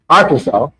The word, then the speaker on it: Arkansas: Now, somebody got me and they said Ar Kansas. I I said Arkansas. They said, "D Did y'all be fighting over how to pronounce?"